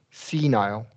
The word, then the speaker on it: senile: And here we are going to do a long E here. Senile.